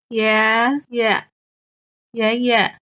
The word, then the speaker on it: 爷爷: The first character, 爷 is the second tone. The second character, 爷 is the neutral tone, 爷. So we used to say 爷爷爷爷.